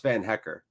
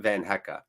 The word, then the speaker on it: Van Hecke: in nonetheless and it's van hecker who we learned just recently it's pronounced van hecker not van hecka we should call him